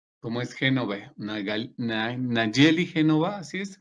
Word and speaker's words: Génova: gastos de misión como es genove una Nayeli Génova así se pronuncia ha subido el dedito Por qué no